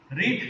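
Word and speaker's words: read: रीड का meaning spelling सही रहता है, लेकिन प्रोनाउंसिएशन में थोड़ा चेंज हो जाता है. रीड, रेड, रेड.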